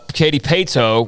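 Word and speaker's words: Katy Paetow: And then David Hicks from Katy Pato. Is that how you say it? Yeah. Katy Pato, which is one of the newer schools.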